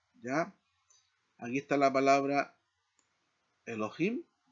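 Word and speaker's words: אֱלֹהִים: En este caso, la sílaba tónica la encontramos acá, ¿no? La he y la id. Y aquí leemos e lo himim.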